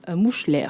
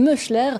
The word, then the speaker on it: Moeschler: Le lauréat est une lauréate, il s'agit de Vinciane Mouchler, si je l'ai bien prononcé en tout cas.